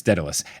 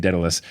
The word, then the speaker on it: Daedalus: with the other two I will be saying Daedalus because that's how they say it in Hades a video game and that is the